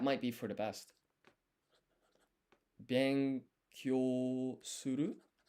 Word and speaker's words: benkyou suru: So this is a yun combination that's gonna be pronounced as kyo. Then I need the additional u. Su. Ru. Benkyou suru.